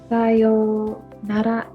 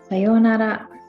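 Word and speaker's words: さようなら: And you don't really hear the oo sound. It just sort of extends the yo sound. Yo, yo. It just extends the kind of o sound from the previous character.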